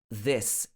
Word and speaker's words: this: these confused they wouldn't instead of saying this is they would say these this is wrong it should be this is the short vowel sound this is my friend